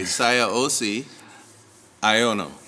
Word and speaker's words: Siaosi Aiono: So, Mr., and I'm going to pronounce it the proper way, Siaosi, Aiono, correct?